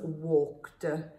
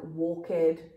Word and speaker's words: walked: cooked etc okay um really important that you do not pronounce this like walk head or talk head okay what you'll be doing is giving the word another syllable and it will make it very difficult to understand so walked talked cooked